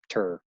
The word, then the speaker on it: TIR: is total internal reflection often abbreviated just as tur that's how you pronounce that if my angle of